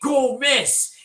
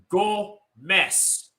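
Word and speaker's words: Gomis: Why did you say go miss?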